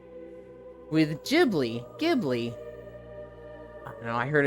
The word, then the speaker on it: Ghibli: Isn't it pronounced Ghibli for Studio Ghibli? Yes, but I hate saying it that way. The correct way to say it is Ghibli like a J.